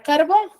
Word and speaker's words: carbón: Luego tengo la palabra carbón. ¿Dónde tiene la mayor fuerza de voz? En bone, ¿cierto?